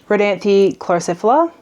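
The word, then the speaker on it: Rhodanthe chlorocephala: We used the redanthy chlorosphila. Pretty sure that's how it's said.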